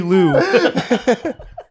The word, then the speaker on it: Liu: I think it rhymes with sue. Anthony Liu.